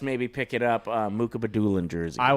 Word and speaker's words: Mukhamadullin: Mukhamadullin.